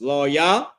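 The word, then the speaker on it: לוי: Now the tribe of Levi, their name is pronounced Loyah, and their name means joined to me.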